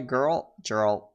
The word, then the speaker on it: Geralt: And I couldn't get my Geralt. Golly. I had to learn how to pronounce that right.